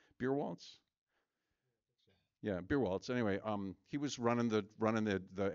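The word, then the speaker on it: Beierwaltes: Yeah, Beerwaltz.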